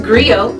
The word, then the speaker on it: griot: to share that history with you agrio it's pronounced Grio or in English Agri it's a West African